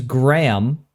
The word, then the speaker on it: Graham: And I'm just like GRA, and they're like, "All right, gra, okay, makes sense." And I'm like HAM, and they're like, "Ham." Like, shouldn't you be saying Graham, not Graham?